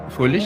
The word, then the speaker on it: Fröhlich: Fröhlich, I'm saying it right. Yeah, Fröhlich. Yeah, That's Fröhlich.